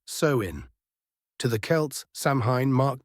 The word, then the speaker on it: Samhain: They celebrated a festival called Samhain, pronounced Samhain.